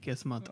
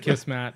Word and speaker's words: Kismet: Kismet is fate, and that's Yeah. how you say it. Kismet. Not Kiss Mat.